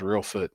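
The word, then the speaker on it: Reelfoot: It's in uh I think that even the name of the town's Real Foot.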